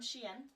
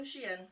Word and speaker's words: Shein: I got this one from Shein, which is spelled like the dog in French, S-H-I-E-N.